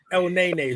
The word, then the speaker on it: Elneny: Elneny.